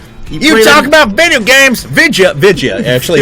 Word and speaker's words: vidya: Vidya. Actually, it's usually VIDYA is how they spell it.